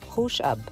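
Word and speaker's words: خوش آب: التركية تعني التمر المنقوع، وفي الفارسية تنطق خوش أب، وتعني الشراب الحلو أو العصير.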